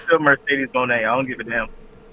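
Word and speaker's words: Mercedes Moné: we WWE ingrates inbredads have been saying her name wrong. We've been calling her Mercedes Monae. That's not how you say her name. Her name is Mercedes Monet.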